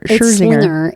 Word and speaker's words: Scherzinger: Scherzinger. It's like something with Slinger.